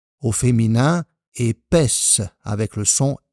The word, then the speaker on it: épaisse: Attention, au masculin on a épais avec le son E, au féminin épaisse avec le son E.